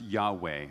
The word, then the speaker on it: Yahweh: an unpronounceable name which is closely most closely pronounced Yahweh yhw H which means creator of all things